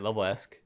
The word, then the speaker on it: LevelEsq: financial and you have level-esque that's what you say it right level ask correct from a revenue perspective